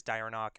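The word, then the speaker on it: Dieronach: so it's limsa said the whole city is dire knock and the part that you guys are in the poor part is called rogue's row it's spelled knock d-i-e-r-o-n-a-c-h thank you yeah yeah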